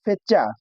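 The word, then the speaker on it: fecha: सीएच है तो उसको नोचे पढ़ेंगे और देखिए इधर दिया है फेचा फेचा है फिर ओचो है इसको कैसे बोलेंगे उसके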